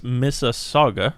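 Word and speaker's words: Mississauga: right let's see we're we're told it's misa saga it's the correct way to pronounce it here in the chat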